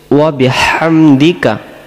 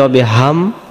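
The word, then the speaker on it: وَبِحَمْدِكَ: কাল্লাহুম্মা হে আল্লাহ আপনার আমরা পবিত্রতা ঘোষণা করছি ওয়াবিহামদিকা ওয়াবিহাম ওয়াবিহাম এখানে শসু করে গলা থেকে হাম আর যদি আমরা বলি অবিহাম উচ্চারণ হবে না ওয়াবিহামদিকা ওয়াবিহামদিকা ওয়া মানে এবং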